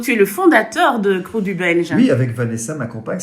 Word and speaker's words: Krewe du Belge: Oui, Crew du Belge. Les Wallons, ils disent Créoué du Belge.